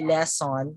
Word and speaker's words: lesson: just like when we pronounce the word less and we just say less on but actually when we are pronouncing it correctly it has to be la la sun lesson lesson okay so you'll notice that the sound of le here is stand out okay and so this stress is here le le sun okay so next